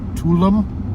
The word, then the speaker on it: Tulum: I think it's Tulum, T-U-L-U-M.